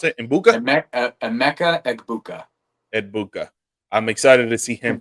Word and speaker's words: Egbuka: And how do you pronounce it? Mbuka? Emeka Egbuka. Egbuka.